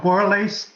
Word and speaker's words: Borlas: Borlas has asked, did I pronounce that right? I think I asked you that last time. I'm not sure. It's close. I would call it borlace, like shoelace. Okay, borlace.